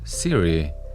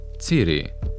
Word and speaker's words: Ciri: Cyrilla, or Siri, isn't pronounced this way originally. Now, I'm gonna leave the judging to you, but in Polish, it's Cyrilla and Ciri.